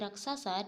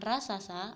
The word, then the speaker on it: raksasa: dari seonggok nasi raksasa kata-kata seperti raksasa diucapkan dengan jelas raksasa dan pengucapan ini tepat karena sesuai dengan lafal yang seharusnya bukan rasasa atau rasaksa selanjutnya kesesuaian mimik muka